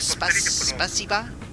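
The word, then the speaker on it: Спасибо: how do you pronounce that? Spasiba?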